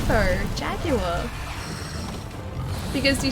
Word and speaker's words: Jaguar: Jaguar.